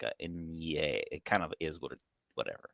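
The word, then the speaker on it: eñe: It's an Inye. Well, the letter, it's like a specific letter in Spanish. It's called Inye.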